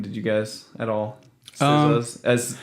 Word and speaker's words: SZA: SZA's. It's stylized SZA, pronounced, but it's just SZA.